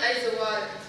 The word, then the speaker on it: Aizawl: For an anglicized instruction, you start out with an AIZ, like in maize or braize.